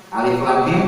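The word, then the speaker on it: الم: Alif lam mim bacanya alama gitu kan.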